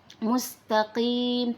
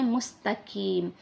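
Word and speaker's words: مستقيم: Ingat di situ adalah huruf qaf, bukan kaf. Mustaqim walaupun dia kasrah, dia harus tetap memiliki sifat isti'la, yaitu tebal. Mustaqim, tidak boleh kita membacanya mustaqim karena mustaqim dan mustaqim itu tentunya berbeda makna teman-teman. Jadi harus kita perhatikan benar-benar antara qaf dan kaf. Jadi di sini adalah huruf qaf. Mustaqim harus tebal.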